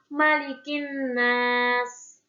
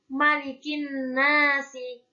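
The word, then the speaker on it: مَلِكِ النَّاسْ: Karena dibacanya kan malikin nas, malikin nas, bukan malikin nasi, malikin nasi, tapi malikin nas.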